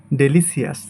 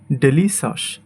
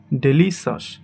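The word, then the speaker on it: delicious: সো প্রথমেই আছে যেটা, সেটা হচ্ছে আমরা এটাকে সাধারণত বলি ডেলিসিয়াস, কিন্তু এটা সঠিক উচ্চারণ হবে ডেলিসাস। ডেলিসাস অর্থাৎ লাস্টে শ্বাস এই উচ্চারণটা করব।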